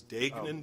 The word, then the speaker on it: Degnan: and I want to correct kennel date-date the pronunciation of the cases Dayton DUI GNA n it's my case counsel said